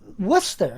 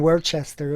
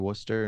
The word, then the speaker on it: Worcester: uh, Worcester, right? Yeah. Is that how you Worcester. pronounce it?